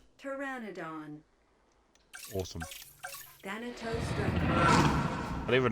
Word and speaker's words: Pteranodon: I didn't want to butcher the word because it's PT, not Pteranodon. I like how it shows how it's pronounced, even though it clear like the way it's pronounced is spelled very different.